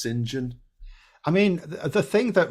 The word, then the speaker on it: St John: CH yeah I know St John is pronounced singen I mean the thing